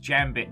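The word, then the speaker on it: Jambit: myself um the um actually it's pronounced jam bit joke has gotten out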